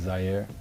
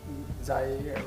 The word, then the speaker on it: Zaire: Talking about Zaire, right? Is that how I pronounce it? Yeah, Zaire.